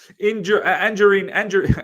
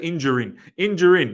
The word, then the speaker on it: Anjorin: Anjorin. I was going to say Injurin. Yeah, that's probably the right way to pronounce his name.